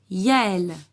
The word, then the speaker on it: Yael: Voici deux prénoms de filles où la lettre Y va se prononcer comme une consonne. Donc on va entendre Y. Yasmine, c'est un prénom arabe, et Yael, C'est un prénom hébreu.